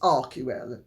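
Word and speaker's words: Archewell: as is revealed in their arel or ar or however they want to pronounce it or I should say mispronounce it because the name is arel correctly and he might well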